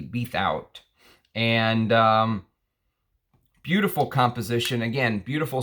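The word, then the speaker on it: Bethouart: He created this fragrance with Jean-Pierre Beathout. Beathout is how I would pronounce his name, I think. B-E-T-H-O-U-A-R-T, Beathout.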